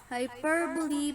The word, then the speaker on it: hyperbole: Hyperbole, pronounced hyperbole, is a figure of speech in which an author or speaker purposely and obviously exaggerated to an extreme.